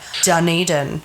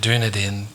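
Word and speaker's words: Dunedin: you nodding your head I said it right Daren a lot of people call it dunaden dunad oh even I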